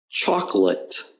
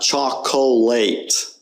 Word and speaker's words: chocolate: Chocolate. Okay, it's not chocolate. That's not how you pronounce the word. It's chocolate. The O there is just kind of unstressed.